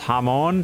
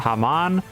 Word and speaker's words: Hamon: And yes, I'm well aware that it's pronounced Hamon and not Haman, but I know that it frustrates some of you, so I'm going to continue saying it this way.